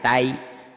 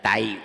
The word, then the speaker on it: Thai: atai jangan atai Muangthai Thailand Thai Thai jangan tahi Sunda Thailand nah Taipei atai Muang Thai Thai mangatai ada nah